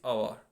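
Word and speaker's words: hour: say alphabet is H, and H is a consonant, but the pronunciation of this noun is our. Okay, our. So start with the vowel sound.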